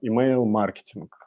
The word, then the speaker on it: email-маркетинг: сделать акцент что всё-таки правильно произносить как и mail и маркетинг ударение на А в принципе можно говорить как угодно но Давайте стараться как бы делать это правильно Поэтому email маркетинг ударение на первый слог и сегодня мы поговорим